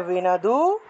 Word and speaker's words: বিন্দু: তাহলে বিনদু আর পরেরটা হয়ে গেছে কি? বিন্দু। কেন হলো? কারণ ন এর নিচে হসন্ত আছে। বিন্দু বিনদু।